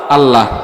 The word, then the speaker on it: আল্লাহ: অধিকাংশ মানুষ বলবে আল্লাহ এখন বলেন আল্লাহকে কি বলে উচ্চারণ করতে হয় গোল করে আল্লাহ আর আমরা কি বলব আল্লাহ তখন বলেন আমি যে